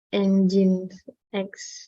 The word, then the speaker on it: Nginx: FEI and Engine X cara bacanya.